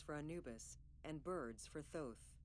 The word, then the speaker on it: Thoth: Anubis, and birds for Thoth. Oh, it's pronounced Thoth.